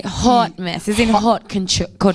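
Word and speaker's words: haute: Because perfect because it's spelled a h a u t. You say hot mess as in hot co hot mess.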